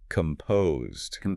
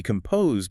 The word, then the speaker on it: composed: And pronunciation-wise, the weight of the word falls heavily on the second syllable. Composed. Composed. If you stress the first syllable, you lose that steady rhythm.